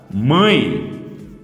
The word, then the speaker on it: mãe: Palavra mãe. Ninguém fala mãe. Só se caiu e bateu a cabecinha, né? Aí pode falar mãe. Mas se não, aqui a pronúncia é com I. Mãe.